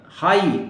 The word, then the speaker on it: high: तो इसमें जी आपको नहीं पढ़ना है, हाई, HIGH, राइट? जी नहीं पढ़ना है इसको, जी का कोई यूज नहीं, जी ड्रॉप करना है।